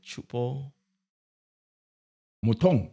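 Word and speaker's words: Choupo-Moting: How do you pronounce that name? Chupo. Mutong.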